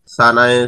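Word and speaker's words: سين: জিহ্বার সিন হরফ উচ্চারণের স্থান হচ্ছে জিহ্বার আগার কিনারা এবং সামনের নিচের দুই সানায় শুক্লা দাঁতের আগার সাথে মিলিয়ে শীষ ধ্বনি সহকারে উচ্চারিত হবে, তোমরা চিত্রে দেখতে পাচ্ছ সিন সিন এইভাবে উচ্চারিত হবে।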